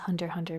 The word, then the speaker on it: Hunter x Hunter: know that that's pronounced hunter hunter by the way apparently the X is silent but I like to